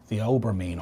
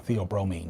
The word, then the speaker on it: theobromine: Theophylline and theobromine or theobromine, depending on where you want to put the accent on what syllable.